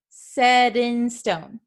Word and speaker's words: set in stone: Okay, so we often change the pronunciation of the T, and that's why it sounds like we're talking really fast. Set in stone, set in stone. Okay, you can't really hear that T sound here.